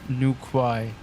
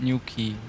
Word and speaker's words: Newquay: It's not called new quai. Okay. Pawn will airport new key or what? I'm slightly confused, but thank you for uh you say it wrong, mate. Ah, all right. Okay. Okay. So, it's new key.